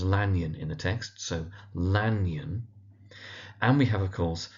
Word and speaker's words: Lanyon: So it's Jekyll, emphasis on the Jeck part, the first syllable, Henry Jekyll. We have Hasty Lanyon, commonly known as Lanyon in the text, so Lanyon.